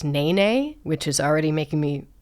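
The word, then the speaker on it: nēnē: The state bird, it's spelled ne, but it's pronounced na na, which is already making me think of certain things.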